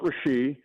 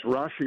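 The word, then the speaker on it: Rashee: You just had him on with the promo, and it's not Rashi, and you don't wait on the first syllable like it's Rashi Rice.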